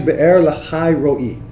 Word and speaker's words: Be'er Lahai Roi: Isaac had just come back from the vicinity of Be'er Lahai Roi. Is that how you say it? Well, it's actually Be'er Lahai Roi, yes.